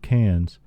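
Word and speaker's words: Cairns: listeners the town of cans is spelled like a rock k c a i r NS but in Australian it is pronounced like cans of soup we go to the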